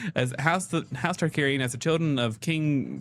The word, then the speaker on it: Targaryen: It begins with House uh I'm going to get this name wrong. I keep saying it wrong, but it's Targaryen.